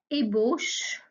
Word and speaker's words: ébauche: supplémentaires emboucher quelqu'un donc je répète pour la prononciation une ébauche et une embauche autre confusion entre des mots